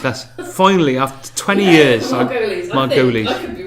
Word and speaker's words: Margolyes: You've also got, I can never pronounce this lady's name, Miriam Margolyes. Margolyes. That's finally after 20 years. Margolyes.